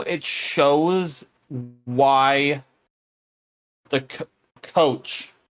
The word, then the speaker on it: Coach: in the first episode saying coachi because they add an e sound at the end of it when they say it I so I